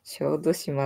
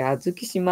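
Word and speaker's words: 小豆島: 小豆島って言うらしいよな。私、あずき島って読んじゃってたからさ。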